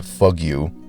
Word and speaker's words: Fugu: It's pronounced Fugu, but because this is a family show, I'll adjust the name.